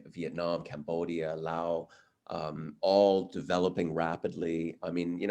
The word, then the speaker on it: Laos: I used to say Laos as well, until I came across some people from Laos who said Laos. So I thought they were better equipped to how to pronounce it. So we've changed our pronunciation.